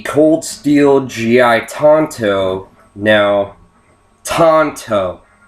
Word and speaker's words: Tanto: it is the Cold Steel GI Tonto now Tonto not Tanto Tonto people tend to call it a Tanto